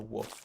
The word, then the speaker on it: Wolfe: And most people don't know, like they assume the spelling of my last name is the normal spelling of wolf. So it almost takes advantage of that. Like I said, most people aren't going to spell my last name with an E at the end, which is how it is pronounced and spelled.